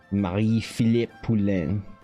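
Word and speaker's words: Marie-Philip Poulin: Even if the Canadians can't uh win you guys anything, at least the Victor have Marie Philip Pulen, the proper canonical pronunciation of Miss Pulin's name.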